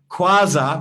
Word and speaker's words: Quasar: Oh, Quasar rhymes with plaza. Tanya, I thought when you